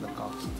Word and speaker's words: Lacoste: Lacoste.